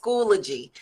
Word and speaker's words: Schoology: It's pronounced Schoology.